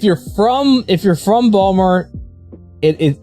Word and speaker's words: Baltimore: A lot of people would pronounce the T in that lot. No, it's it's Balmer that if you're from if you're from Balmer, it it it's it's And now I'm conscious about saying the word.